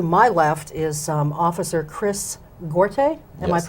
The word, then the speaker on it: Gorte: So to my left is Officer Chris Gorte. Am Yes. I pronouncing that right?